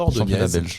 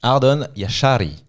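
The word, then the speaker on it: Ardon Jashari: vient de Bruges, mais c'est pas Ordon exactement international suisse et c'est Ardon Yashari, je l'ai prononcé comme les commentateurs.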